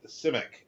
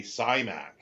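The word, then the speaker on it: Simak: Clifford uh simac I say simac but uh simic is how he pronounces it himself he pronounces it his own surname simic uh but people say simac and it's like that is wrong that is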